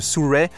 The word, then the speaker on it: Sirui: Donc normalement, il faut prononcer cette marque Suray, mais on va continuer avec Sirui, ça marche très bien aussi.